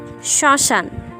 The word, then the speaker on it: শ্মশান: এক্ষেত্রে আমরা দেখতে পাচ্ছি পদের প্রথমে যদি মফলা থাকে সেক্ষেত্রে এর উচ্চারণে কিছুটা ঝোঁক পড়ে এবং সামান্য নাসিক্য স্বর হয়, যেমন শ্মশান, শরণ।